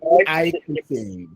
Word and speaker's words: eicosane: How do you pronounce it? I'm seeing EX. Yes. Is it not EX? Please, the spelling is EICOSANE. Icosane.